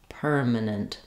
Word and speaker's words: permanent: reduced permanent minut minant you can hear how I'm going as quickly as possible from the m to the n and to the next n the consonants are more important in these syllables minant permanent permanent um also when I'm saying permanent permanent uh if I'm saying it by itself I will say this T sound I'll release the air permanent um in some